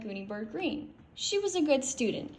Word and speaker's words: Greene: My name is Gooney Bird Greene. That's Green with a silent E at the end.